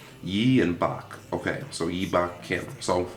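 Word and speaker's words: 박: and pronounce yi and park pronounced bach okay um he only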